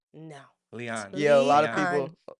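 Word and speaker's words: Lian: Leon. L I A N. Lean. There's a problem here. I hear about I when when I say Lean, they're like, "Lean." No. Leon.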